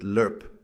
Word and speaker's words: LRRP: They called it the recondo school, long range reconnaissance patrol training, LRRP, though we pronounced it lurp.